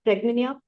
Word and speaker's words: Pragnya: I had a that's absolutely fine ma'am the name is quite cultural the pronunciation is quite cultural it's praa actually that's fine absolutely fine you please okay Dr.